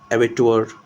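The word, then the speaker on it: abbot: कैप टैब एबोट बट एबट बोलेंगे इसको, not like बोट नहीं, सॉरी एबट प्रोनाउंस करेंगे, नॉट लाइक रोबोट.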